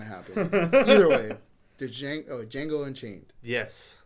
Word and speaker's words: Django: Either way, the Django Unchained. Yes. D is silent.